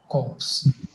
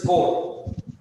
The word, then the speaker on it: corps: something known as the corps. Don't you dare pronounce it as corps. So as what corps? It is core, right? But I don't know why they spell it like that.